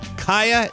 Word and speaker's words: Kaya: This is Kaya. Did I pronounce that correctly? Kaya exactly? Exactly right.